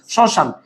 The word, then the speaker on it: শ্মশান: শ্মশান এই যে লিখতে আমরা ম লিখেছি, বলতে সেটির উচ্চারণ হয় নাই।